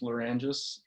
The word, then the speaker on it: Lerangis: a bit about yourself sure last name is pronounced Loran giuse it's Greek so originally it was leave Enzi's